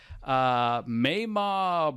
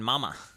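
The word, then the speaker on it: Mamah: He leaves them and hooks up with Mayma Brothwick. Is that how you say it? I was thinking Mama. I think it's Mayma.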